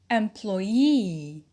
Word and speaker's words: employee: Put in the primary stress on the suffix and a secondary stress on the first syllable, and you will have the stress pattern 1, 0, 2. We practice together. So, number 1, employ plus the suffix e, it becomes employee.